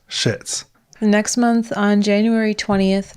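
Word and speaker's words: Szyc: z y c and every single site we could find said that it was pronounced shits next month on january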